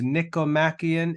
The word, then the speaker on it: Nicomachean: But anyway, that word is pronounced Nicomachean, and it just refers to the name of either Aristotle's father or son.